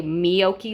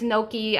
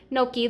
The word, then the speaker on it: gnocchi: do you pronounce it i've heard people even say miyoki like with the letter m i'm pretty sure it's gnocchi i'm might be wrong but i really love